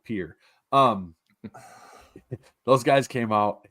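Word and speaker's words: Pierre: anunciation Mr Marshall um that's how it's pronounced in South Dakota as God intended where we pronounce our Capital Pier um those guys came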